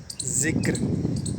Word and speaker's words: ذکر: جانے والا لفظ ہے۔ بدقسمتی سے یہ بھی غلط بولا جاتا ہے۔ لفظ ہے ذکر، یعنی کہ ذکر، کسی کا ذکر کرنا،